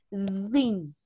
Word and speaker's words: thin: Entonces, cuando ustedes en una palabra vean la TH, vamos a acomodar nuestra lengua entre los dientes y vamos a hacer el sonido thin. Thin. Thin. Muy bien. Es la pronunciación correcta, corazones.